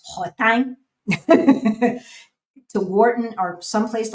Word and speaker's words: Worten: So what you need to do is go online to someplace like Wharton, Worten, which they pronounce Wharton, to Wharton or someplace